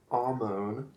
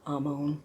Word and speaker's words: Amon: Amon. Amon, because I always pronounce the R, and it probably should be at least softened a lot more. Amon.